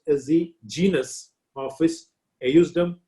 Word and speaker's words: ejusdem: In Latin, the letter J is not there. So it is actually pronounced as ejusdem generis.